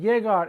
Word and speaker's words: llegar: The G, when followed by A, O, or U, is ga, go, gu. It is a hard G. But G, when followed by I or E, is a soft G. He or he, right? He or he. So all these verbs are the hard G.